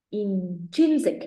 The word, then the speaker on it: intrinsic: So it actually, cái phát âm của nó hơi lạ xíu nhé các bạn, nhìn cho cô này. So cái chữ S này mình đọc là âm giờ.